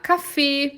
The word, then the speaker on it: Kaffee: dela Cafe ou der kaffee depende da região tá gente pode ter força no ca da CAF ou pode ser força no fe dela Cafe Ambas estão corretas essas pronúncias de a café ou dela